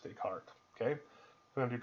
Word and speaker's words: Descartes: So Descartes is how it's spelled, even though it's pronounced Descartes.